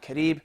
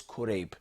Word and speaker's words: Qurayb: His name is not Karib, it is Qurayb.